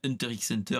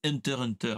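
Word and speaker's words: Hunter × Hunter: sur le studioination mais normalement c'est pas Hunter x Hunter c'est Hunter Hunter parce que on nous a dit dernièrement que c'était la bonne la bonne prononciation mais moi j'aime bien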